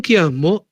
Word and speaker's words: quiasmo: Un kiasmo es kiasmo se escribe con q u i a s m o.